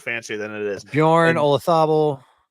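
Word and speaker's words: Olazábal: Thomas Bjorn, Jose Marazabal, Francisco Molinari, Jose Maria Olazabal. I know. I said it wrong. I was trying. No, you didn't. I'm mad that Olazabal has been the way the Brits have been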